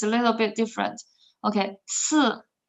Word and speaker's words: 四: Okay, 四 read after me. 四四 so it's a dropping tone. 四 yeah, and 二 is also dropping.